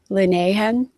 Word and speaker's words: Linehan: Linehan.